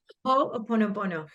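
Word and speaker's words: Hoʻoponopono: that is it hopono how do you say it again I always say it wrong ho a ponopono yeah hopono you can look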